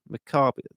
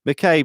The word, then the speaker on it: McCabe: my surname at all that's Karen Maccabi I don't know if I got that right or wrong and she might be taking the piss but anyway mccabe yes I'm okay I'm so sorry Karen I'll get that right next time but you know I'm